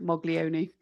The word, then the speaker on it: Moglioni: Oh, it's my married name and uh I married a liverian so they pronounce it Moglioni.